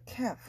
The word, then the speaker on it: calf: At 호렙에서 they made a calf, calf를 만들었죠. 엘은 묵음이에요.